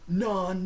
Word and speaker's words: non: non that was non non non non heinous like Bill and Ted but here like even the non is pronounced no no it's nasal no so it kind has an N remember C play we